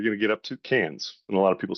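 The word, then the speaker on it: Cairns: Uh but as we're getting up uh more north, you're going to get up to Canes. And a lot of people say KS, but it is pronounced Canes by the locals.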